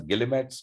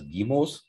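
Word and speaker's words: guillemets: called we english speakers would read it as gilimetz but it's a french word and it's pronounced as guimos and in the french language you don't have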